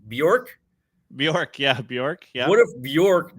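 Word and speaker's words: Björk: Bjork.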